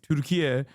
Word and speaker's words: Türkiye: Türkiye is the actual Turkish pronunciation of the country's name.